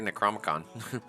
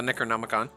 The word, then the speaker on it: Necronomicon: I always want to say Necromicon. But the Necronomicon, it gets 10 spell slots.